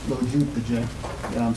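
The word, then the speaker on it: Lo Giudice: My last name is pronounced Lojupje, so the easy way to remember it is Lo, because I'm short, Jew, and Jewish, and then DJ, like a music DJ, so you put that together, you get Lojupje.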